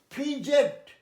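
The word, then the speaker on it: fidget: তারপরে এই দেখো, ফিজেট, ডিজিই থাকলে সবসময় বর্গিয়ে যাওয়া হয়, আমি 2-3 বার বলেছি। এটা হচ্ছে ফিজেট, হয়রানি করা এবং হয়রানি হওয়া।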